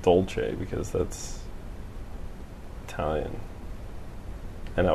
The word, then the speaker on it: dolce: See, it's dolce. It should be Italian pronunciation.